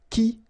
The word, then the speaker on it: qui: So the idea is that this combination of Q and U together will give you the sound K, okay? So that's the reason why you get qui like that, qui, quitter, all right?